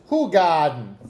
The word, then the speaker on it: Hoegaarden: Is that like the German Brooklyn pronunciation? Garden? Garden? Yeah. Yeah, it's Hoegaarden.